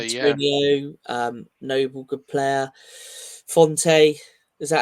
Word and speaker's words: Fonte: Fonte, is that how you pronounce it? Fonte?